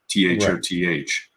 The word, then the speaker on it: Thoth: english letters we use t-h-o-t-h uh countless the scholars who figured out ancient egyptian writing and have approximated the pronunciation think that that is the closest to it t-h-o-t-h being thoth but remember we're talking